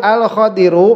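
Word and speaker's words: خضر: Tanbihun al-Khadiru bi fathil kha al-mu'jamati. Khidir itu cara membacanya dengan memfathahkan kha yang ada titiknya itu.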